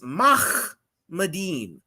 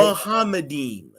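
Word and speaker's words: מחמדים: And this destroys your position because the pronunciation is Mahmadim, not Right. Muhammadim.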